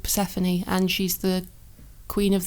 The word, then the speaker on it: Persephone: Well, can you pronounce it for me? It's Persephone? Oh, Persephone.